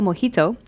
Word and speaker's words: mojito: So there's the Jovito Mojito and the Bitter Barkeep. These You didn't cocktails... pronounce that right. It's Yeah, I did. mojito. Oh. Well, if you want it to rhyme with Jovito, it's Mojito.